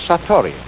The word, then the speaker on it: satori: is in Japanese and then it is called Satori I'll write that down it's an unfamiliar word